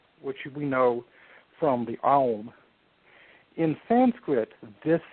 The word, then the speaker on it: Aum: It begins with the A sound, ends with the U sound, so it goes through all the vowels, and then it ends in this great hum. Aum, shall we say, is the home of everything.